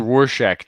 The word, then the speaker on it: Rorschach: i'm gonna vomit hey how do you pronounce it rorschach as in rorschach test yes rorschach so thank